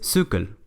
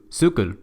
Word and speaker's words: cykel: chido, Lyngby, pero resulta que esta palabra se pronuncia Lyngby. O también la palabra bicicleta en danés, que es cykel.